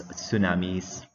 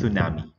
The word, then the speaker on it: tsunami: And we will also discuss earthquake and what is epicenter, mountain belt, volcanoes, tsunamis. It's pronounced, you will pronounce that as tsunami, okay, not tsunami.